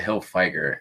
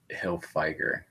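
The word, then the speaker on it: Hilfiger: vintage Tommy Hill hillfigure I call it Hill fer and someone commented on my YouTube video with how to uh pronounce link to the YouTube so it's Hill figer but or Hill figer I don't know whatever I don't care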